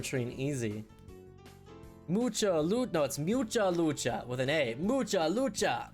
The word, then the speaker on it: Mucha Lucha: word in Spanish but I always thought it was much it is Mucha lucha you're wrong doc you're wrong dog it's Mucha lucha can't spell it right